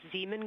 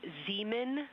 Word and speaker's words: Zeeman: Integrity Science, we believe that's Zeeman Crater. Oh, I floated away from the speaker. Say it again, please. We believe that that is Zeeman crater.